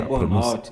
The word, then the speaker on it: Burnout: Ignaldo vai estar falando sobre a síndrome de Bornau. É assim que fala? Burnout. Isso aí é a síndrome de Burnout.